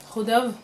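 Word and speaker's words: Chodov: Qui s'appelle Rodov. Ça s'écrit C-H-O-D-O-V.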